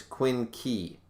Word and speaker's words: quinque: and definitions either way according to pronunciation it's quinky quincy quinky e i don't get it i don't care it's a quinque it's a quinqui i'm good with it not gonna make a hard case sound if you wanted me to pronounce a k put a k there um all right so